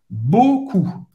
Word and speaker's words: beaucoup: E a U tem o som do O. Beaucoup. O U em francês tem o som da letra U em português, ok? Beaucoup. O P no final é mudo, não vai ser pronunciado.